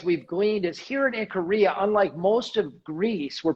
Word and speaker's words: Ikaria: I was going to ask you, what are you doing in Ikaria now? How do you say it? Ikaria or Ikaria? Ikaria.